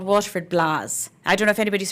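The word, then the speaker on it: blaa: do waterford has their own they're called Waterford blahs I don't know if anybody's heard of a voice Waterford blah but a Waterford blahs basically it's spelled BL a a it's a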